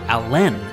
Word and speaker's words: Alan: Chester Alan Arthur chose to pronounce his middle name with the emphasis on the second syllable, so he was actually Chester Allen Arthur.